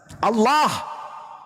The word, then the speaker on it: Allah: Kalau menggunakan ejaan tajwid, maka bacaannya Allah. Tidak ada huruf O di situ. Ini juga kesalahan orang-orang yang membaca huruf Arab menggunakan kata huruf O. Tidak ada huruf O dalam bahasa Arab.